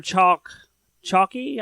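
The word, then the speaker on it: Chalke: So they gave, and her name is Sarah Chalky. I forget the E is silent, but anyway, they gave a nod to her.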